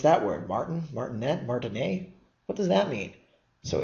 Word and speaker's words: martinet: was named Martin a and the reason I'm pronouncing it not martinet but Martin a is the person is he was a French